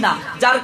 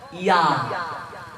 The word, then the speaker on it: ঞ: উয়া, চ, ছ, বর্গীয় জ, ঝ, ইয়া। আমরা বলি নিয়, নিয়র উচ্চারণ হচ্ছে ইয়া।